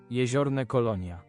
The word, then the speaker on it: Jeziorne Kolonia: Jeziorne Kolonia.